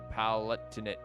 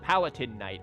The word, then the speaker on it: Palatinate: it's not that it it is not palatin Knight I know how to pronounce palatin you clown but do you see the T there it's not the word palatin palatinate Knight destroyed by the